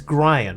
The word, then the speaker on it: Grian: to say his name it's grian right like Brian but with a G Gyan grean okay so